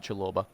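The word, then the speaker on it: Chalobah: pronouncing that that was chill over what's pronounced chiloba that was him anyway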